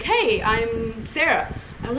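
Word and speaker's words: Zara: She's like, it's spelled with a Z. I was like, oh, dear God, okay. And she's like, yeah, it's Z-A-R-A. She's, but it's still pronounced Sarah.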